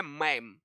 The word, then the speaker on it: मैम: तो भाई किसी को अपंग कर देना हमारा मैम कहलाता है, इसका उच्चारण है मैम, ठीक है भाई।